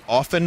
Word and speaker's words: often: so here's the thing i said often my whole life o-f-e-n but it's spelled often o-f-t-e-n i started saying often because people in the stream were upset that i wasn't pronouncing the t and now that i'm pronouncing it with the t people are upset that i'm pronouncing it incorrectly so you know